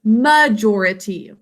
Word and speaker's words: majority: Now we pronounce this one majority. So not major, but majority.